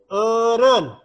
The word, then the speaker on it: eureun: Terakhir eureun. Eureun bukan eureun, salah, tapi eureun.